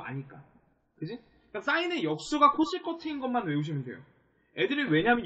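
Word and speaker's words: cosecant: CSC라고 읽고 이거를 우리가 코시컨트라고 읽어요.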